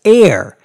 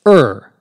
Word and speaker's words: err: that word er er R is now often pronounced somewhat mistakenly but now more commonly as air as though it were spelled AI R in